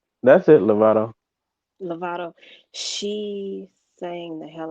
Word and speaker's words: Lovato: That's it, Lovato.